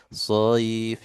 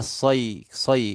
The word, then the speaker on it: صيف: Tidak boleh sayf ya, ulang. إيلافهم رحلة الشتاء والصيف Masih ya sayf. Was-sayf kayak soy. Bacanya kayak kalau di Indonesia soy.